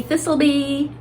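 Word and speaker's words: Thistle Be: So this is This'll Be, and it's spelled thistle, like a weed.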